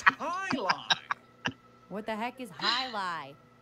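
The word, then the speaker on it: Jai Alai: Outside Intelligence is looking to start a competitive Jai Ally team to play against the Bellows. No, I'm going to poison the well. What the heck is Jai Ally? Poison the well. It's pronounced highlight.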